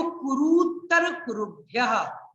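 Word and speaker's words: कुरूत्तरकुरुभ्यः: ध्यान रखना उच्चारण में, ये ऊ बड़ा वाला ऊ है, कुरुत्तर, कुरुभ्यः, कुरु और कुरु, देखो उच्चारण में आपको ध्यान रखना पड़ेगा, कुरुत्तर, कुरुत्तर और कुरुभ्यः, ऊ छोटा है ऊ बड़ा है, ये ऊ और ऊ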